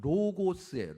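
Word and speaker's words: λόγος: 뭐냐는 거죠이 말씀이라는 단어를 헬라어로 어 발음을 하면 로고스에 로고스 그 여러분들이 한 번씩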